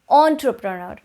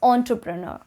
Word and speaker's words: entrepreneur: for you is entrepreneur entrepreneur a lot of you started with like interpreter but that is incorrect it's entrepreneur entrepreneur you would not start it as in but as an on sound entrepreneur entrepreneur moving on on number